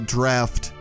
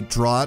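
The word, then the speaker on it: Draught: really only remember that it's supposed to be pronounced uh draft cuz I used to say drought or something like that and then people corrected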